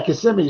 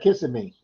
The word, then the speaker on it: Kissimmee: Oh yeah, Kissimmee. So why you mama kissing me? But a lot of people do pronounce that kissing me.